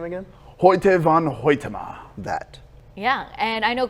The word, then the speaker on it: Hoyte van Hoytema: How do you pronounce the name again? Hoyte van Hoytema.